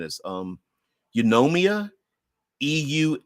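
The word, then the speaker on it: Eunomia: and I'm going to put you this the pronunciation is um yomia euu n o m i a uh yomia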